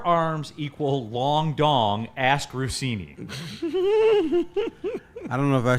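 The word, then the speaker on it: Russini: Pusini. Does it? The Pusini. It's Diana Rossini. You sure? Oh, You yeah.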